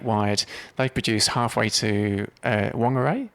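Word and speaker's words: Whangārei: they produce halfway to long array or do you pronounce it Fung are a densifier it's WH is Fung all right there's that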